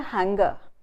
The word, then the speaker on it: hanger: One is a consonant cluster, which is finger, ng, and the other is ng, which is hanger, hanger. So we must watch out for these, that we must realize that one is finger, ing, the sound ng, and the other is a consonant cluster, n and g.